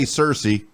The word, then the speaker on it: Searcy: We have a city called Searcy, Searcy, and if you don't say Cersei, it's bad.